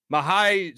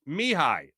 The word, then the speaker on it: Mihai: Mahai. What's up? Hi, Mark. My name is pronounced Mihai. Oh, okay. Romanian for Michael.